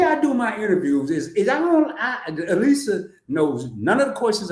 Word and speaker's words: Alisa: Lisa with an A in front. Just Lisa with an A. So the way I do my interviews is Alisa knows none of the questions I'm gonna ask.